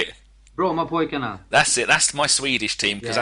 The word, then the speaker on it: Brommapojkarna: The first team you played for, Brompemtjark. How do you say it? Brommapojkarna.